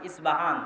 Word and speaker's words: ইস্পাহান: আমরা প উচ্চারণ করি ইস্পাহান, আরবিতে এটা উচ্চারণ হয় না। আরবিতে হয় আল আসবাহানি, বা উচ্চারণ হয় ইসবাহান বা আসবাহানি।